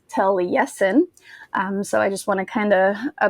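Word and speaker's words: Taliesin: tragedies now last week I told you about tail yesen which that um I basically pronounced it incorrectly um it's not to lesion it's tele-yesin um so I just want to kind of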